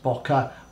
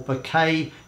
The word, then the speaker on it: bokeh: quality of the blur as bokeh or bouquet depending on how you want to pronounce it that is derived from